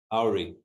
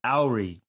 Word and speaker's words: Auri: Auri. Auri.